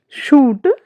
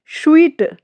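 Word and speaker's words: suite: Jewellery शूट। यह हमारा wrong pronunciation है। स्वीट।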